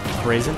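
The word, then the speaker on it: Braixen: Brazen? Oh, that's pretty sick. Yeah, like I think of it like, you know how you like braise meat.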